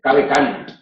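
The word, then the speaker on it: cave canem: Nosotros sabemos que cuidado con el perro se dice cabe cani. Cabe cani. Y en los grafitis de Pompeya no se escribe la M, porque no se pronunciaba la M.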